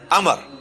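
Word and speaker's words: Amr: उमर की बजाय पढ़ना है अमर।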